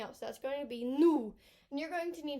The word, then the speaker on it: nous: Now, not new, okay? It's not news. It's nous, and it's very low. Ooh, nous. And that sound, we don't often use it like that in English. Ooh. It's not difficult for you to say, but you do need to make some sort of effort because it's not just new.